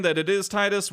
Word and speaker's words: Tidus: saying that it is Titus we're not saying that it is tetus we're just saying we're going to pronounce it Titus so we hope that